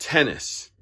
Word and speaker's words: Htenas: name is actually pronounced tennis it's an ht starting uh last name but it's tennis silent h i guess so nico tennis niko tennis who plays